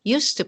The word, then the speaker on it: use to: with used to however be careful that after did the T disappears for example did you use to play tennis more often pronunciation is very similar other examples where did